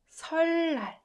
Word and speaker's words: 설날: Rather than saying 을느, it's way easier to pronounce double 르.